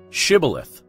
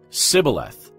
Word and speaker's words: Shibboleth: they would tell him to say Shibboleth if he was from Ephraim he would say Sibyl ahthe because the people from Ephraim cannot pronounce the word correctly then they would take